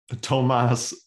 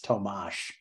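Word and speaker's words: Tomáš: oh God it's uh Tomas Astra already wrong oh God the little carrot over the s means it's tomash oh god well then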